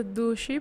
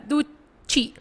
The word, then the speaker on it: dushi: Promê palavra com uma assim tá dushi, pero eu não posso pronunciar. Passador como tá latino, então, sempre me tá duchi. Então, a senhora aí que tá dizendo a mim, não cusei, com S. Dushi.